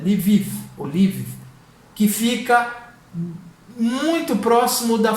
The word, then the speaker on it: Lviv: A primeira delas me perdoem se a pronúncia não sair adequada, é Lviv, que fica muito próximo da fronteira da Polônia.